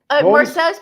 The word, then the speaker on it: Marseille: Marseille's pronounced Marseille.